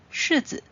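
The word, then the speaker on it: 柿子: 苹果、柿子、凤梨。柿子，柿子的柿和事事如意的事发音一样，所以吃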